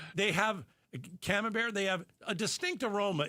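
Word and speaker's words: Camembert: Oh, or a cam bear. Did I pronounce it properly?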